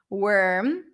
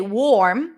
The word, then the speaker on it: worm: what's the secret here we do not pronounce the O okay I don't say worm the early bird gets the worm I don't say warm even though there is an